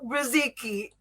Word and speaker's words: Brzezicki: friends please welcome mark and i hope i pronounce this right ma riziki yes yes uh i don't want to wear